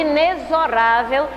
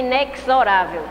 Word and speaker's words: inexorável: dicionário sobre inexorável, que muitas pessoas falam essa palavra de forma errada, dizem inexorável. Inexorável. Tem aí, quando você não souber da pronúncia, olha lá no dicionário que ele mostra entre barras qual a pronúncia correta do X.